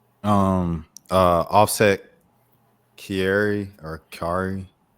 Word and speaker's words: Kiari: Offset Kiari or Kari. How you say his name? Kiari.